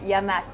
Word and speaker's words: Yec'hed mat: Yamat?